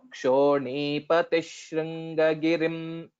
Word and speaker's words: क्षोणीपतिः शृङ्गगिरिं: So Kshonipatish. So there will be this visarga will change into Shakara because this is Shri, which is Sha, and hence this also will change to that. So Kshonipatish Shringagirim. That's how will be the pronunciation.